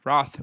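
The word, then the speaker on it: Wroth: Roth. Oh, and uh Roth spelled with a W also for those that are just listening to this. W R O T H.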